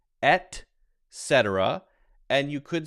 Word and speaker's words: et cetera: because it's kind of a tongue twister it's pronounced et cetera and you could say et cetera so you hear people say correctly etc and